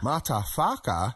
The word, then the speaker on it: MataWHAKA: MataWHAKA? MataWHAKA. You really need to emphasise the whaka. Whaka. That's it, whaka. Yes, the legal department will love us getting MataWHAKA correct.